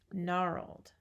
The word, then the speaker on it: gnarled: knack for these words the G is silent so you don't call it a gun at it's an apt signing gnarled here with the W